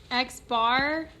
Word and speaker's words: x-bar: in an uppercase in is my population size x-bar that's how you pronounce it that is my sample mean and